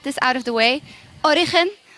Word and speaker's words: Origen: us what to say well both ways are fine origen is how you say in spanish so you actually say like if you were a spanish person but origin is how you will say it if you are not a spanish speaker you say